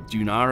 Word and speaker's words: Duna: comment about pronunciation of dunah dunah or doon are as I say because I'm Welsh it's meant for fun